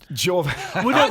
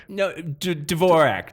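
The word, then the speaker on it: Dvořák: It's Dvorak. Are these classical musical references that I don't understand? How do you say Dvorak? Dvorak.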